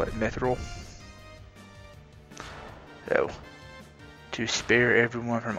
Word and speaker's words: mithril: new sword myth rule i've always pronounced it mithril i'm probably always in hard that i've heard it pronounced me through and other and other